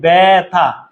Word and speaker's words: ব্যথা: যেমন ভাইয়া এই যে ব্যথা, মানে জফলা আছে তাইলে জফলা আকার হয়ে যাবে উচ্চারণে। প্রথম বর্ণের সাথে যদি জফলা থাকে তখন জফলা আকার হয়ে যাবে।